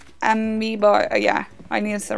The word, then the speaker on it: Amiibo: It's Amiibo. Oh, yeah, I need to remember that. Ambio, Amiibo.